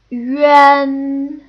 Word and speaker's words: yuan: Yuan. Yuan. See, we start with that U sound and then we add the un at the end. Yuan. Yuan.